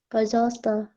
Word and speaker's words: пожалуйста: Nggak pakai U, tapi langsung aja, пожалуйста.